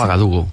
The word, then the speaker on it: Ouagadougou: Ouagadougou, Ouaga.